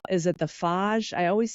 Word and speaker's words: Fage: but I actually I love Greek yogurt, and it's is it the Fage? I always say it wrong. Fage. Yes. And I say the same, I think, Faj.